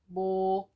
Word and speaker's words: 목요일: So we can say 목요일. 목요일. You can also say 모요일. Both are correct. You can pick either one, which is easier for you.